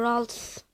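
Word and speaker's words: Ralts: ki çimenlikte ralt buluyor Rust nasıl okunuyor ralt Rust gardın en küçüğü r r nasıl okunuyor Aman her ne boksa kanser etmeyeceğim arkadaşlar benim bildiğim kadarıyla burada nasıl okunuyormuş Aynen rals doğru söylemişim tackle abi hocanla pok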